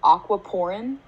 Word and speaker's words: aquaporin: it's spelled a-q-u-a-p-o-r-i-n so it's almost like the words aqua and um a pore like what you have on your face so basically it allows